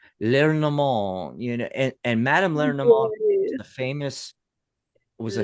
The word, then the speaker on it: Lenormand: I think it's French. Lenormand, and Madame Lenormand was a famous was a famous Lenormand.